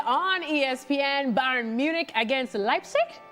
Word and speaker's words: Leipzig: Bayern Munich against Leipzig? Leipzig. I was trying to say it like our Derek Ray, but I don't think it came off very well.